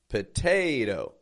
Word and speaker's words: potato: in the article uh and in p p unstressed syllable P that t is getting a strong true T because it is the stress syllable poate and theno flap te potato you see how that flap te helps transition from the strong to the weak potato so a couch potato